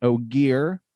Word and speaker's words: Ogier: He is an Ogier, not an ogre.